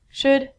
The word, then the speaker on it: should: All of these L's are silent. So it sounds like should, could, and the thing that we get from trees, would.